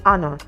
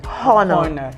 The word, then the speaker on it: honor: you have the word honor honor begins with letter H but it is wrong for you to say hor because letter H in that word is silence and that's why you